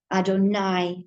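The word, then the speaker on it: אדני: yes v and then sad olive v but pronounced adonai high.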